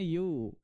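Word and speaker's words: ewe: भेड़ को कहते हैं यू, क्या उच्चारण करते हैं इसको, यू।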